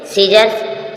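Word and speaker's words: scissors: सीजर सीजर्स मीस कैची सीजर्स सीजर्स मीस कैची बाद जो सी आई व साइलेंट है सीजर सीजर कची साइन साइन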